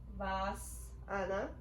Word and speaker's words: Savasana: So Savasana, known as corpse pose, it's pronounced Savasana.